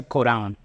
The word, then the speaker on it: Corán: Se pronuncia Corán en español.